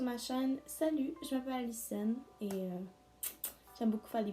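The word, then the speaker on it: Alyson: Alors c'est A-L-Y-S-O-N, c'est Alicenne en anglais.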